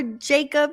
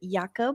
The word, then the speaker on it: Jakub: Yes, well, you can pronounce it Jakub or Jacob if it's easier for you.